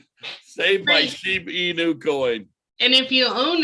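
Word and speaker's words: Shiba Inu: of it save my shibu in my sheep inu yeah see i've been saying it wrong the whole damn time save my sheep e new coin and if you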